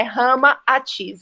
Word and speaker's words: Ramatís: nomes, Rama e Sita, a gente inverter Sita, o nome, vai virar Atis, e aí a gente tem o nome Rama Atis, que é exatamente como que a gente vai pronunciar na língua, assim, do indo-chinês, do momento em que ele esteve na Terra, né? Rama Atis, é assim que se pronuncia.